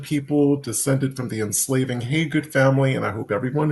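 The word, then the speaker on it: Hagood: g o o d it spelled every kind of numerous way that you can think of but it's pronounced hey good um back on the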